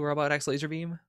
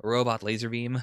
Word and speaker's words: Robot Laser Beam: So, maybe I'll put that, like, below Robot X Laserbeam. Or Robot Laser Beam, sorry, you're not supposed to pronounce the X.